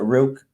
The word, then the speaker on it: Rook: I pronounce it Rook. It's because we're Irish. We always say things like tree.